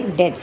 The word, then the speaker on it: debts: So you say debts. You don't pronounce the B. The B is a silent letter there.